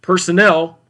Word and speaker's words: personnel: So you can hear the difference between this word here in the gray box, that's personnel, with the accent on the third syllable, and then personal has the accent on the first syllable.